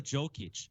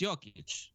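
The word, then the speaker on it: Jokić: Well, yeah, like Nikola Jokic, like everyone calls him Jokic. It's Jokic. It's Jokic. They say the J like a Y. They don't say the J like a J.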